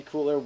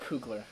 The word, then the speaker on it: Coogler: But from Marvel, Black Panther 2 officially confirmed in 2022, and Ryan Coogler's directing it again. Ryan Coogler will direct it. Coogler.